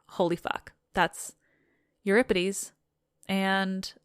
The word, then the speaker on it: Euripides: fuck, that's Euripides and that was another example of the funny pronunciation and I think again that's the modern Greek coming out because they call them like Euripides and again, but I m saying it in a very like Canadian English way of Euripides so such is life,